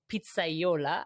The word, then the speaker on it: pizzaiola: all about pizza right um You are a Pizzaiola I hope I pronounce it correctly yeah that's right A lot of people don't even know that uh Pizza Yola is actually a term a lot of people